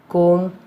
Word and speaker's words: comb: B is not pronounced after M at the end of a word. For example, limb, crumb, dumb, comb, bomb, thumb, climb, tom.